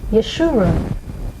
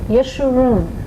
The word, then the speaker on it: Yeshua: of your mouth like israel the name was yeshua yeshua that is not a name that's just easy to say we hear a lot of mispronunciations of it but it's yeshua yeshua and basically what it means is to be